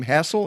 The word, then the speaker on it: Hassell: pronounce your last name hassel is that how you pronounce it i do it's like it has two s's but it doesn't okay erica hassell who's